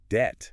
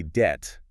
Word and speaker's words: debt: Debt. With the B. Yeah, so many speakers pronounce that B. So say debt.